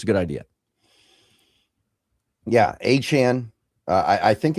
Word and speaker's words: Achane: Yeah, Achane. I think it's I don't know. He changes his pronunciation like every couple months, so I think it's Achane. That's what I've kind of adjusted myself to saying.